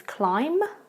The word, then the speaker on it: climb: of the words, but you do not need to pronounce that B at all. So it just becomes climb and tomb.